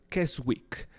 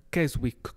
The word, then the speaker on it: Keswick: También pues hace unos días se celebrar celebró el 150 aniversario de la convención de, a ver si lo pronuncio bien, Keswick. Keswick con K al principio y K al final.